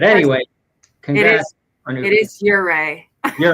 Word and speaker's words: Ouray: And like after we talk about Ouray, I do want to get into talking about like you.